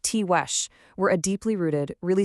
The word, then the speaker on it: Tiguex: The Tiguex, and it's pronounced Tiwesh, were a deeply rooted, really sophisticated people.